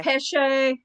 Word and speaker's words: Peche: Peche? Yeah, you get to say it. See how Modern I led you into postal. that so you could pronounce it instead of me? I say Peche because there's an E on Sounds the end.